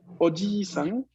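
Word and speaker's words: おじいさん: Y aquí, otra vez más, en este caso, si no pronunciamos la I larga, estamos diciendo tío. O sea, si decimos oji-san y no decimos oji-san, estamos diciendo tío en vez de abuelo.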